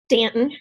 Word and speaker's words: Staunton: Nicole Dodge is a diamond from, Nicole, how do you say your hometown? Stanton, Virginia. If you say it with a U in it, during the Civil War.